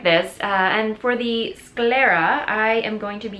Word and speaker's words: sclera: uh corrected me uh it's actually it's not Scalera it's Scara so uh yeah so I